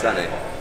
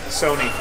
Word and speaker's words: Sonny: your name wrong too sunny what do I say Sony Sony yeah cuz it spelled with an O instead of like the like the song Sunny that's the one Yer